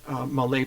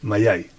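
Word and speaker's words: Mallay: Let's move on to Malay plant. Okay, Mayay, sorry. Yeah. How do you pronounce it? Mayay.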